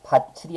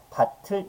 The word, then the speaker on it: 밭을: 발음될 수가 없는 겁니다 그래서 바칠이 아니고요 조심해야 되죠 국의 음화가 나타나는 조건하고 관련이 없다는 건 잘 기억하셔야 돼요 그래서 바칠이 아니라 밭을 이렇게 발음하는게 맞습니다 그죠 명확하게 기억하시고요 그